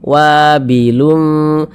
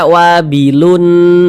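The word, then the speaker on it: وابل: ini kita baca samar kita baca wabilum jangan kita baca wabilun Jangan tapi disamarkan wabilum kemudian setelah disamarkan didengungkan jadi suaranya itu kita tahan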